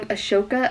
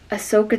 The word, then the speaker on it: Ahsoka: is her name ahsoka was i saying that wrong ashoka ahsoka i'm so sorry ahsoka tano ahsoka tano that's what i'm gonna go with i've heard people say